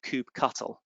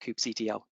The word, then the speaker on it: kubectl: quite often you can substitute OC with kubectl or kubectl, depending on how you like to pronounce it.